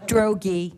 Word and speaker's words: Drogi: That'll be great because my last name will be finally pronounced correctly. Drogi. Drogi?